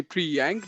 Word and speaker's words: Priyank: by free but uh you can call me pre-yank that's my full name um i'm a local